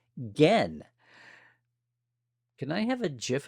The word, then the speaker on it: Gen: And his first name is pronounced Gen.